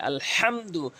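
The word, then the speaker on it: الحمد: জরুরি এখানে সূরা ফাতেহার ওখানে আলহামদু বলে থাকি এই হা উচ্চারণ করে থাকি এখানে ওখানে বড় হা রয়েছে আলহামদু তাহলে সঠিক অর্থ দাঁড়াবে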